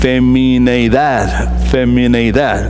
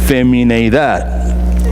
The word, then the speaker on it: femineidad: Femineidad. That's the proper way to say, okay? Femineidad, right?